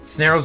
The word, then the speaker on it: Snareoh: Snareoh's name comes from the term snare, to tie something up, and, well, Snareoh rhyming with Pharaoh since he's a mummy alien.